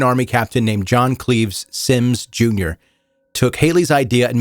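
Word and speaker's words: Symmes: And by the way, if you're looking this up, Sims is spelled S Y Mes.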